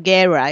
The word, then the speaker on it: Guerra: palabra en español y no pronuncio la R como la pronuncio como los gringos, Guerra.